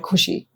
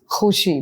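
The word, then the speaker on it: ख़ुशी: There's no word called खुशी. It's खुशी. There's a nuqta. It's been used for a certain way.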